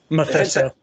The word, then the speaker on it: Mephisto: I don't know how you pronounce that. Mephisto, yes.